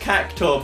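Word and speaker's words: Cactuar: supposed you I think it's pronounced caor but spelled cacta because that's intuitive Japan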